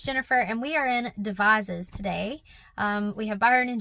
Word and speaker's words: Devizes: I do love the way it's pronounced though, Devizes with a Z or a Z.